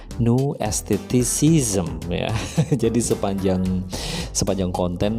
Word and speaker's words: New Aestheticism: ada sedikit kesalahan sebenarnya itu pengucapan dari teori new eh estetism itu salah sebenarnya adalah new esteticism ya Jadi sepanjang sepanjang